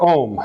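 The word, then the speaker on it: Aom: her nickname is Om, A-O-M, not O-H-M, which a lot of people will write, but it's pronounced the same way.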